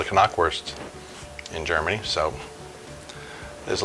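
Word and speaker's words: Knackwurst: found out a little sausage is called the Kanak worst in germany so there's a little bit of your world the pronunciation lesson the NIP expire and you see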